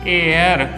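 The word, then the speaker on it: heir: जैसे एग्जाम्पल ले लेते हैं इसका, एच साइलेंट का, एन आर 1 घंटा, ठीक है। एन एयर उत्तराधिकारी के लिए वर्ड यूज किया जाता है, तो एच साइलेंट है यहाँ पर।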